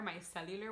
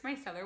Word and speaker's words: micellar: video and I print I've always pronounced micellar water my cellular water I don't know why and I cringe when I watched the video and I was like why do I keep pronouncing it my cellular water it's micellar water got any I get